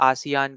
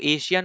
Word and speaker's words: आसियान: बात कर लेते हैं आसियान की अब इसको एशियन मत पढ़ना एशियन की बेसिकली यहां पे स्पेलिंग अलग होती है ठीक है यहां पे आई आ जाता है पर यहां पे ये एशियान है एशियान एक आपका ग्रुप